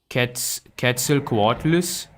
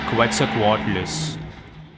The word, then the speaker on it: Quetzalcoatlus: Quetzalcoatlus? I've been calling it Quetzalcoatlus. I've been saying this guy's name wrong.